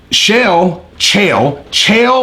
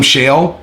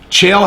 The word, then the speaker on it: Chael: And Chael, or Shale. I've been calling him Shale because I think it's funny to mispronounce his name on purpose.